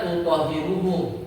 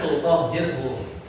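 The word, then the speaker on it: تُطَهِّرُهُمْ: dilarang juga cuman masalahnya semua qiraat bacanya tutohiruhum bukan tutohirhum itu aja kita enggak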